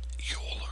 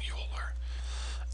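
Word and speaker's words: Euler: man who discovered the number is called um Yol that's how you pronounce this last name yuler and sometimes you hear something called the yuler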